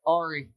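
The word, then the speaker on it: Ary: Ari.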